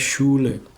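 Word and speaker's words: Schule: Jadi stay kayak ini sekolah ini dibacanya shule shule gitu.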